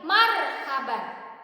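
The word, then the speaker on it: مرحبا: Marhaban, ro-nya mati, huruf sebelumnya berharokat apa? Fathah, maka dibacanya tafkhim. Marhaban.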